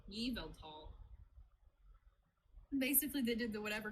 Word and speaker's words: Yveltal: It's not Yvatal. Yveltal.